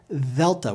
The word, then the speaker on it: Delta: A soft D will sound like TH, th, like we hear in the words therefore, this, or brother. Now say delta with me.